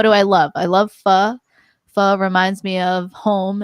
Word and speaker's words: pho: It's actually pronounced the same if you replace it with the word pho, because it's pronounced pho.